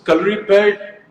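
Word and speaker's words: Kalaripayattu: so, calorie pad, Hrithik, I'm so proud of the fact that you said the name correctly because in India, I Thank don't you.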